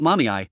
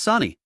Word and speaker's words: Sani: "It's not mommy, it's Sani. How can you get both syllables wrong when there are only 2?